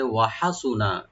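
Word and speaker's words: وَحَسُنَ: রব্বুল আলামিন আয়াতের শেষের দিকে বলতেছে ওয়াহাসুনা, কতই না উত্তম হবে, ওয়াহাসুনা এনে হাসান, হাসুনা এটা সুপারলেটিভ ডিগ্রি, ওয়াহাসুনা, ওয়া ওপেন রাখবেন, হাটাকে রাইট দিবেন, নুনে কোনো টান নাই লাস্টে, ওয়াহাসুনা উলাইকা, মানে ওইসব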